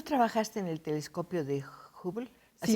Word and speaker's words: Hubble: ¿Tú trabajaste en el telescopio de Hubble? ¿Así Sí, se pronuncia? sí, Hubble. Bueno, Hubble. le dicen Hubble en Sí. inglés.